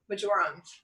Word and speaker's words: marjoram: drops of clary sage, and 2 drops of marjoram.